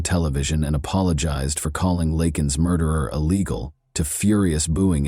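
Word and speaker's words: Laken: To the thunderous cheers of his supporters, Biden mispronounced the victim's name during the speech, saying instead, "Lak Lincoln Riley."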